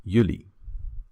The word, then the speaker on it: jullie: You plural is jullie. Jullie. That word always never changes and always remains the same. Jullie.